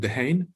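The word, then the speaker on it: Dehaene: koch there's one from stanislaus the hen i'm not sure if i'm pronouncing his name correctly is it the hane yeah yeah so that's their competing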